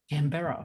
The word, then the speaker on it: Canberra: cra I always say I always say right canbera Canberra the capital the capital of your wonderful country